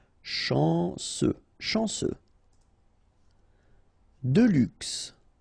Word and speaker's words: chanceux: Chanceux. Final X not pronounced. This C-E-U, ce. Chanceux.